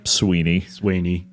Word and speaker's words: Swiney: We're going to say Sweeney. It's a bit nicer than Swiney, even though it's spelled, much nicer than Swiney. Like Swiney. I think that anyone with a name that is spelled like that is just going to say, it's Sweeney. It's Sweeney. Like, whatever it was. Yeah. Whatever it was, it's Sweeney.